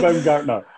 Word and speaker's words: Baumgartner: I pronounced that one right. It is Christian Baumgartner.